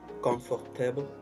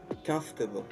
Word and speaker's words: comfortable: bien alors voici la la bonne manière de prononcer le mot confortable en anglais au lieu de dire confortable et dites plutôt comfortable ok comfortable quand vous dites comfortable c'est facile